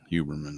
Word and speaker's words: Heuermann: Huberman, yeah.